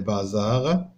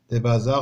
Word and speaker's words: bazars: des bazars هنا ما كاينش اس، ها هي واخا كتنطق زاد راه ماشي اس هادي. دي بازار بو اشوتي، بازار هو بلاصه اللي كنبيعوا فيه ديك المنتوجات التقليديه، الصناعه التقليديه.